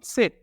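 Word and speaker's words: Zett: ওয়াই এবং জেড, ওয়াইকে বলতে হবে উপসিলন এবং জেডকে বলতে হবে সেট, সেটটা অনেকটা কাছাকাছি কিন্তু ডাব্লিউটা পুরাটাই পরিবর্তন, তো ওয়াইকে বলতে হবে উপসিলন উপসিলন এবং সেট, উপসিলন সেট।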